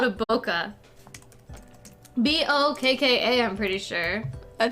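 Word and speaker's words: bokeh: they're called and I went they're called a Boca b-o-k-a I'm pretty sure I thought it was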